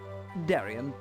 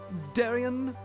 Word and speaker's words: Darian: By the way, my name's Darian. Darian the librarian. It rhymes.